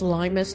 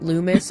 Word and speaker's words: Limus: Yes, it's Limus, not Lumis. I have literally always pronounced it Lumis.